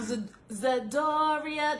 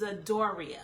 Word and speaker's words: Zedoria: Well, I already said my name, but I'm Zedoria. That's how you say my name, okay? So a lot of people jack it up because they don't pronounce the I, but it's Zedoria, okay?